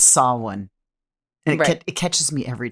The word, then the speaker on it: Samhain: soloin but it's spelled s-a-m-h-a-i-n so it makes you want to say samhain samheen right but it's saw one and it catches me